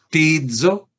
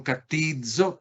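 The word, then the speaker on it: κτίζω: Miren cómo es tizo, tizo. No es fácil de pronunciar porque tiene una capa introduciendo la expresión ctizo, ctizo, ctizo.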